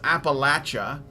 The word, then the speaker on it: Appalachia: to an apartment in Appalachia where he and a friend now pay 500 each a month that's awesome and it is pronounced Appalachia this is what the Appalachians say and this is where